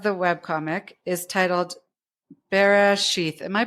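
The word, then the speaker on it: Bereshit: So the first episode of the web comic is titled Barath. Am I pronouncing that correctly? Barit.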